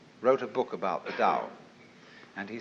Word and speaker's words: Tao: called the Dao Tao pronounced Dao in the Mandarin dialect Tau in the changhai dialect toe in the Cantonese dialect take your choice Dao